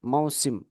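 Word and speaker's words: موسم: ini musim musimul Haj mausim bacanya itu mausim mausimul Haj mausimul misal mausim durian mausim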